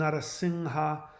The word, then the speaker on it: Narasimha: Narasimha and Narasingha are two pronunciations of the same word. In reality, it is pronounced Narasingha. The M, what we like the word Om, the chant Om, you think it's an M, right? It's not. It's an NG sound.